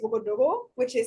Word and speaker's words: Ouagadougou: So the capital, I've been saying Ouagadougou. Actually, the correct way to say it is Ouagadougou, that's how you say it in like the actual More language.